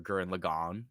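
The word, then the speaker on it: Gurren Lagann: think it's just the struggle of humanity in Gurren Logan or guren lagon if you're a weirdo and care about how it's actually supposed to be pronounced topa tengen guren lagon no one ever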